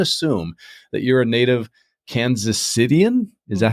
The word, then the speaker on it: Kansas Citian: I'm going to assume that you're a native Kansas Citian.